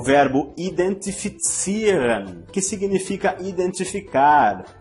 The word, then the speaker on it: identifizieren: O verbo identifizieren, que significa identificar. Vamos pronunciar novamente este verbo para você ver como pronunciamos a letra Z no alemão.